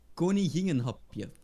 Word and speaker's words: koninginnenhapje: So the word, the Queen's meal or the vol en vent, how you say that is koninginnenhapje.